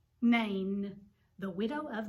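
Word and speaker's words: Nain: was the widow of it starts with an end rhymes with rain name the widow of name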